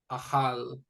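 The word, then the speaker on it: אָכַל: So ahal, and we're going to determine which syllable gets the stress. So that's going to be the last syllable.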